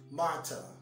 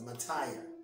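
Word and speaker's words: martyr: dads in two years the next word is mata mata a matter is a person who suffers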